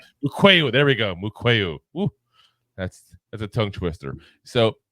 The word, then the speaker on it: Mukuamu: I always mispronounce this guy's name. Mukuamu. There we go. Mukuamu.